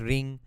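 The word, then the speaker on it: Hrim: So I was saying that in Sanskrit, any word that ends with M is pronounced as ng in Bengali. Okay, Om is pronounced as ong, Reem is pronounced as ring, those sorts of things. Kleem is pronounced as kling in Bengali.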